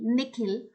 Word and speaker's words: Nikhil: his parents say it the second part of it is longer sounding like heel now what happens is